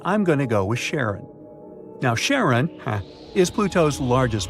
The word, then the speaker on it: Charon: the most mysterious one, Charon, also pronounced Sharon. So, you can pronounce it however you like. I'm going to go with Sharon.